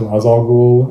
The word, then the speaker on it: Ra's al Ghul: Like, Ra's al Ghul is supposed to be pronounced Ra's al Ghul, and Falcone is pronounced like Falcone in this.